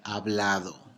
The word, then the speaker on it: hablado: your a your e hablado I have spoken right now H is silent you have spoken you